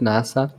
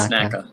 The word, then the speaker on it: NACA: I was actually gonna ask you, like, is it NASA? No, it's It's NACA. NACA. NACA. It's not NASA.